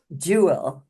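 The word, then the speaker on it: GIWL: acronym g i WL they pronounce it Jew and it's with a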